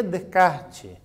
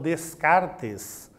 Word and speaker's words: Descartes: se nome de kart quando se escreve normalmente os alunos falam descartes não é bota enche de essa ali mas é para ler tirando os essas nessa nesse nome e ele propôs uma